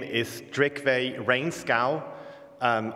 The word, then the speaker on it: Reenskaug: his name is drakeway rainscow um I don't speak Norwegian that's my best bet at how to pronounce that all the Norwegians out there come and correct me afterwards I think it's rain scow so he's visiting at